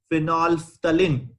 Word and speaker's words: phenolphthalein: are made in labs lab okay so example phenolphthalein need to pronounce this properly phenolphthalein one is methyl orange there are n number